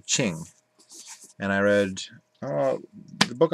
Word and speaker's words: Qing: It's spelled Qing, the Ching.